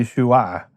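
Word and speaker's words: ישוע: Yeshua is really Yeshua-a. It’s a little bit hard to say so they say Yeshua, but it’s really Yeshua-a, with an Ayin at the end.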